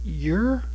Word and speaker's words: Ure: And last, we have Wesley, I think it's Ure, pronounced E-U-R-E. I was never able to pronounce it when I was a kid.